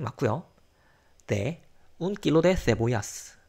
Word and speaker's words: cebollas: de un kilo de cebollas. 자, 이제 여기 있는 것도 이제 세라고 읽으면 돼요. 그 세타하고 똑같이 읽으면 돼요. 중남미식은 시오시고 그 스페인식은 세타로 읽으면 되는데 세보야 양파란 뜻이고 어쨌든 철자 맞습니다.